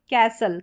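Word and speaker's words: castle: इसमें जो टी है ये टी साइलेंट है। इस टी को हम ट प्रोनाउंस करते हैं। इसका उच्चारण नहीं है। साइलेंट है। एस के बाद जो ये टी आ रहा है। तो आप ऐसे याद रख सकते हैं। सल लास्ट में रहेगा। जैसे कि आपको लिखना है कैसल। कैसल या कासल दोनों तरीके से आप इसको प्रोनाउंस कर सकते हैं।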